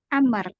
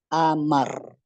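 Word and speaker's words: عمرو: Ya ikhwan dan akhwat Amar Awah ahsant ini kita baca dengan Amar terus ada orang tanya misalnya terus wau itu gunanya apa Ustaz Mak kita bilang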